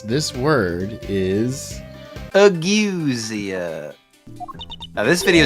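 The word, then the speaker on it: ageusia: I I would assume Auasia, but the E is before the U, so maybe not.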